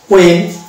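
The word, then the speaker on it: when: তাহলে এরকম আছে হোয়াইট, হোয়াইট, which, Y, uh, what, হ্যাঁ, ওয়েন। তাহলে হোয়েন যদি হয় তাহলে এখানে আমরা উচ্চারণ করব ওয়েন, ব্রিটিশ ইংলিশের ক্ষেত্রে উচ্চারণ করব ওয়েন।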